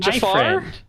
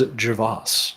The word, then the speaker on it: Javas: And Jafar? Was it? His name is Javas. Oh, Javas, not Jafar.